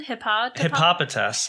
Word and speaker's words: Hippopotas: Hippopotas.